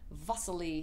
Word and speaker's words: Wassily: one is all about wasley Kandinsky some people pronounce his first name vasy he was from Russia